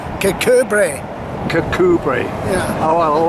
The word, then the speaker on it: Kirkcudbright: just asked this gentleman, how do you pronounce Kirkcudbright, which is what the English would say, because that's more or less as it's spelt, and that's how I've always said it. But what's the Scottish sort of translation of that?